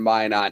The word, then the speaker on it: Minot: ever had with Strange Days, we were in Minot at Originals Bars, which they just called O's, up in Minot.